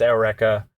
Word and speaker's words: Eureka: My favorite mech show / franchise is Eureka 7 or Eureka 7. It kind of depends. I don't know how you pronounce the show. The character's name is pronounced Eureka.